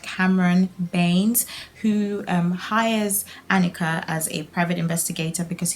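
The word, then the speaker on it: Hanika: I think it's pronounced Annika so I think the H is silent so I'm really happy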